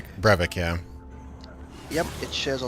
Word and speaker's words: Brevik: Studios and Blizzard North employees, including is it David Benny? I can't keep his name wrong. Brevik, yeah.